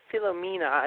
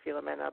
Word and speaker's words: Philomena: I've watched them all now, and this week's was Philomena, is how they say it in the movie. I would say Philomena, but Philomena, starring Dame Judi Dench.